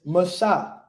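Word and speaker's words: משה: Moses did that now how do we pronounce that in Hebrew right it's Masha what is that we just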